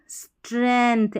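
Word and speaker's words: strength: जुड़े हुए तो emotional स्ट्रेंथ एस टी आर यहां पर जी जो है साइलेंट है स्ट्रेंथ पढ़ेंगे स्ट्रेंथ यानी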